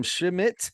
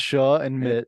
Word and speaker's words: Schmidt: Schmidt. How are you today, sir? I almost forgot how to say your last name there. It's two syllables. Yeah. It's Sha and Mitt.